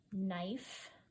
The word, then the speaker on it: knife: with a snow knife knife is a funny one it's spelled with a quiet silent k at the front knife and an e at the end or saw and laid